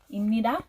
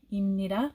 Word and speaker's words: 입니다: 입니다 is pronounced like with the square character. 입니다, 입니다.